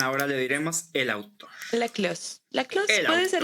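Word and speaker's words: Laclos: La Clos. La Clos El puede ser autor. la Clos, aunque dudo la verdad que la S se pronuncie. Normalmente en francés la última S no siempre se pronuncia, pero tal vez en nombre Yo lo sí.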